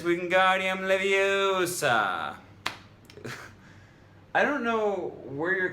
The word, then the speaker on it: Wingardium Leviosa: It's not Wingardium Leviosa, it's Wingardium Leviosa.